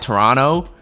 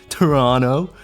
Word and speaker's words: Toronto: Canadian accent yeah oh stop pronouncing the second T in Toronto it's pissing me off what you just call it Toronto where' the te go